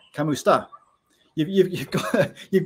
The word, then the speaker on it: kamusta: you can say uh if I'm English I'd probably say C Kam custa but it's not it's kamusta you you You' got